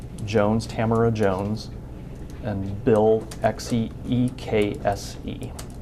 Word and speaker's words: Ekse: Tamara Jones, and Bill Ekse, E-K-S-E. How do you pronounce it?